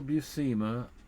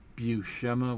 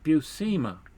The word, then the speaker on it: Buscema: um there is a cell uh buscema cell busema as we heard it from tom defalco who